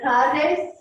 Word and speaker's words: tardes: Buenas tardes. Buenas tardes. Tardes. Tardes. Tardes. Remember the key is a long S.